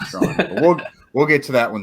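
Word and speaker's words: Strachan: mike strawn's name and if you've been saying stretching like me then now you know it's mike strong we'll get to that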